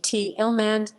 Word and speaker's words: Thälmann: Ernst Thälmann, Ernst Johannes Fritz Thälmann, German pronunciation Ernst Thälmann, 16 April 1886, 18